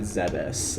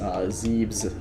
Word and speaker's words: Zebes: can also scan at the planet zebus zebes traditional pronunciation for that the rest of these